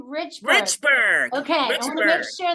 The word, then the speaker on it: Richburg: how do you say your last name Richberg Richberg okay I make sure that I was